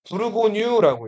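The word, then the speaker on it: Bourgogne: 자, 여기를 이걸 프랑스 프랑스로 읽으면 뭐라고 읽을까요? 브루고뉴라고 읽어요.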